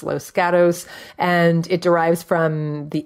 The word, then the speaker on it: Los Gatos: It's pronounced Los Gatos.